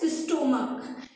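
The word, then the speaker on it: stomach: अगर नाउन के अंत में CH आए और उसका प्रोनाउंसिएशन क हो तो उसमें S लगाते हैं। तो अब देखिए जैसे ये क्या है? स्टोमक। इधर क्या है इसका प्रोनाउंसिएशन? क आया है, क्या आया है, क।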